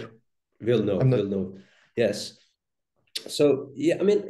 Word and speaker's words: Villeneuve: But no, I think that will, how do you pronounce the Canadian's director's name? The French guy, the Quebecian Villeneuve? Guy? Villeneuve.